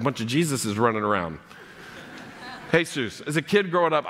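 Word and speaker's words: Jesús: somebody I you know they would say his name is hey Seuss and I'm like great and then I would see it written and I'm like mom that's his Jesus anybody ever experienced that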